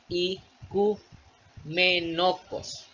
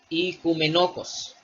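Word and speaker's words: οἰκουμενικός: la palabra ecuménico, que en el griego se lee como ikumenokos. Ikumenokos. ¿Ya? Podemos observar que la primera letra, que el primer diptongo suena como I, y si somos observadores, enseguida está capa y posteriormente tenemos otro diptongo, que es la OU, que es la unión de un omicron con un ypsilon, que este, más abajo lo vamos a ver, tiene un sonido de U.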